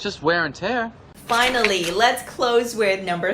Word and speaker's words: tear: this word here when it's a noun it's pronounced as tear as in tears on your face but here it's pronounced as